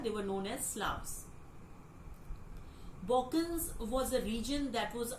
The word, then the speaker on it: Balkan: Now, the word Balkan, yes, you heard right. I'm saying Balkan because this is the right pronunciation. L is silent here, so this is Balkan.